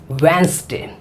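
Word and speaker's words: Wednesday: अब यह युद्ध हुआ अब इसमें देखिए साइलेंट क्या चाहिए ए साइलेंट आपको एक मिलेगा यह अब इसको आप चिपका दीजिए अब कैसे बोलेंगे वेनसडे 09 स्टे चिकित्सक सहित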